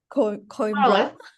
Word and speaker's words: Coimbra: And then we will have Alexandra here from the University of Coimbra. Did I say it correctly? Wait, Coimbra.